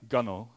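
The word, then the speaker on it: gunwale: it's an apparently it's an Old English word Gano which is pronounced differently from how it's spelled essentially refers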